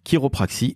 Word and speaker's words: chiropraxie: s'écrit chirop RA XIe ça s'écrit chiropraxie et ça se prononce qui reprit et pourquoi Charlène parce